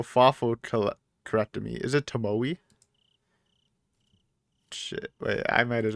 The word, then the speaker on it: Tomoe: Tomo is pronounced Tomoe.